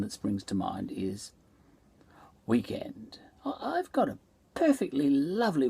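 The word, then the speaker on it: Weeknd: say it like this weekend but um african americans um they spell it w-e-e-k-n-d um and still pronounce it as weekend you know now this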